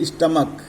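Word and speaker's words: stomach: जैसे स्टमक, स्टमक हम बोलते हैं तो इसको ES नहीं लगाएंगे बल्कि स्टमक्स यस लगा के प्लूरल बनाएंगे.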